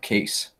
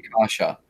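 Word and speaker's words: Kaše: And his name is not Case. It's Kase, I think they pronounce it. Andre Kasha. Don't ask me how, but it is.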